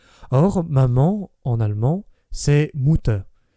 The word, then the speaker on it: Mutter: Or, maman, en allemand, c'est Mutter, et comme la lettre U se prononce OU, ainsi que chacun sait, et que les enfants germains prononcent tar plutôt que terre, c'est bien le mot